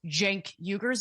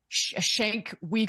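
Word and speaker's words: Cenk Uygur: the Young Turks, he would know how to pronounce Jenkuger's name. It's not Shank Weaguer or whatever it is that he said. He his opening line is literally, "Welcome to the Young Turks. I'm your host, Jenkuger."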